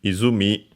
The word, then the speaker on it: 泉: First and foremost, the kunyomi, which is izumi, unaccented, literally mi from mizu,